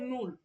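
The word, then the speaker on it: null: বলি শূন্য এই শূন্যকে যার মানে বলা হয় নূর একটু আপনারা হচ্ছে মিউটটা অফ রাখেন আপু মিউট অফ করে আমার সাথে সাথে একটু ইয়া করবেন বলবেন শূন্য টাকে বলা হয় নূর নূর যাকে আমরা ইংরেজিতে বলি জিরো ওয়ান টাকে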